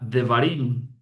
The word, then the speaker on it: Devarim: En hebreo es la palabra de varim. Devarim. Así se escribe en hebreo y así se lee de Barin.